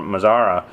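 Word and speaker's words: Mazara: Mazzara.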